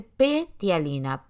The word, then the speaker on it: ptialina: Tialina se escribe P-tialina, ptialina, ¿sí?